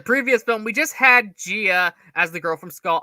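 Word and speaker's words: Jia: In terms of Jaya and Rebecca Hall, I do feel like we are kind of just thrown in. Jaya? Isn't that how she's pronounced? Gia, motherfucker. Okay, well, everyone around me pronounces it as Jaya.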